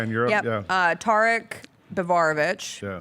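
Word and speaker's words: Biberović: Tarek Bivarovic, Yeah. whose name I might be mispronouncing. Biberovic? Yeah. Biberovic. That sounds correct.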